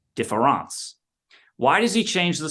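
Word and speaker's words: différance: difference combines this now he takes that word and he takes the E out and he puts an A in but pronounces it the same way defance why does he change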